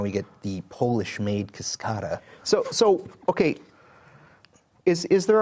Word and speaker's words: Cascada: there was another Buick the Cascadia the convertible I say it correctly cascada oh I'm sorry yeah